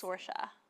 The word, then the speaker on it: Saoirse: I think it's Saoirse. Saoirse. Sorry, let me just find the correct pronunciation. Saoirse Ronan. Pronunciation. Saoirse. It's Saoirse.